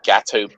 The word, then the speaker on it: Gato: if you look at gato barbieri you will see the name resent what's that yeah is that spelled like the cake it's no no no it's gato like cat in in spanish oh here he is